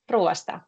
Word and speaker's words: ruoasta: Ruoasta. Very good. So you actually are having 3 different vowels after each other there. Ruoasta, but it goes like ruoasta quite quickly.